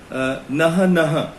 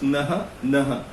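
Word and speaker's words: Naja naja: The common cobra, which is a venomous snake, is Naha Naha. It's written as Najanaj. So it's pronounced Naha Naha.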